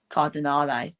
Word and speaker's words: Cardinale: There is the uh the owner of AC Milan, Gerry Car- Cardan- I couldn't pronounce that guy's name. Cardinale.